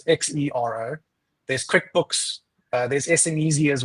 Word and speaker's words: Xero: There's Sage, there's Xero, which is spelled with the X, so it's Xero.